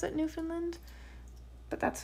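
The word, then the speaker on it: Newfoundland: from New Finland and pronouncing it new found land is a cardinal sin um and she said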